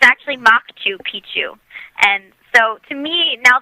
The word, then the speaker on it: Machu Picchu: sorry he's doing this but when you say Machu picu you're saying old penis instead of Old Mountain it's actually maku picu and so to me now that I know